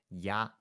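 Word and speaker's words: 鸭: So in Mandarin, duck is pronounced as ya, which obviously is different to Cantonese up, and then it's kind of partly because it's pronounced that way.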